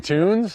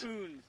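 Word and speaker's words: Kunz: Tunes? Coons. How do you spell it?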